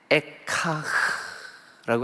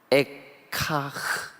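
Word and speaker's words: אֵיכָה: 예, 그래서 1장과 2장과 4장에 처음 시작하는 말 슬프다, 예, 이 말이 히브리 말로 발음을 하면 에카흐예요.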